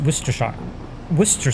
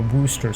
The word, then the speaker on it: Worcester: My favorite one is Worcester sauce, though, because why not just remove most of the word, or Worcester sauce?